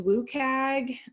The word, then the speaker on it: WCAG: communication are also accessible the other one that I look to is Wouk AG which is how we pronounce that WCAG it stands for the